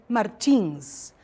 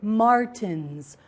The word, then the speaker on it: Martins: Pay attention to the different pronunciations of the last name Martins. Okay, I am Brazilian. I said Martins. In your CD, we have some American people, and they said Martins. Okay, so just to call your attention to the different pronunciation of some words.